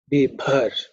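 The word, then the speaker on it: बिभर्षि: Girishanta Haste Bibhar. The bha is aspirated, the fourth letter in the pa varga.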